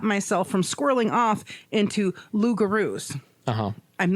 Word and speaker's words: loup-garou: from squirreling off into loup-garous. Uh-huh. I'm not sure if that's the right way to say it. Yeah, I believe it's pronounced loup-garou. But that's an actual thing.